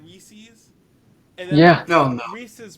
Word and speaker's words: Reese's: eating a king-sized one you notice how some people say it like reese's yeah kill him kill him dead but it's like it's supposed to rhyme with pieces like reese's pieces i used to have